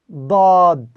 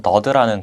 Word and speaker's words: ضاد: ضاد ضاد 네, 다음은 더드라는 글자입니다. 이 더드라는 글자도 우리가 앞에서 배웠던 서드라는 글자처럼 발음을 하실 때 입안에 큰 공간을 만들어 주시고 혀를 아래로 내리신 상태에서 이렇게 발음을 하시면 되는데요.